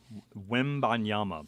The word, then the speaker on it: Wembanyama: Wembanyama.